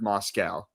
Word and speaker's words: Moscow: You you pronounce it like moss and the thing that eats grass and we get milk from Moscow.